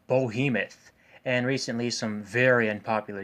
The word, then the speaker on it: Behemoth: It's pronounced Behemoth.